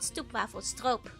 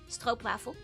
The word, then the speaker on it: stroopwafel: No, not stoopwafel. Stroopwafel. Or you can go stroopwafel. You shouldn't spell it that way. That's how you pronounce it. It's literally spelled the way you pronounce it. It's just that English pronounces it wrong.